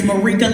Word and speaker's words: Marika: It's Marika like paprika, Marika like paprika.